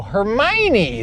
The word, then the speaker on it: Hermione: that's that's how you say that word oh Hermione that's that's how you say her name.